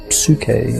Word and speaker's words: psyche: That's something that it was given a name, and the name was psyche in Greek. Psyche is how we pronounce it now, and the word means soul.